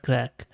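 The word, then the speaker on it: craic: ignorants like me so it says it is pronounced at crack so the Irish phrase crack is a term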